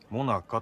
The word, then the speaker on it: 最中: もなかっでも最中って書いてあるモナカと読むわー最中っていう